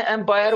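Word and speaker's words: ampere: What is इस बच्चे को जवाब देंगे, उसका प्रोनाउंसिएशन तो थोड़ा सा वीक था, एम्पायर बोल दिया, लेकिन बोलना क्या उसको बेटे? एम्पियर, एम्पियर बोलना, एम्पियर कैपिटल ए से लिखते हैं।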